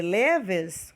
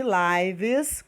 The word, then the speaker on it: lives: prestar atenção tá porque ela pode ter a pronúncia de Levis quando ela é verbo e pode ter a pronúncia de lives quando ela é substantivo Tá como assim professora